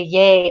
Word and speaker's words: yea: So you might have been curious about the title of this video and wondering about the yay or nay, because yay is spelled Y-E-A. Yes, it is. It's not Y-A-Y.